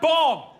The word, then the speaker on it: bomb: The word bomb, 2 B's, both pronounced differently.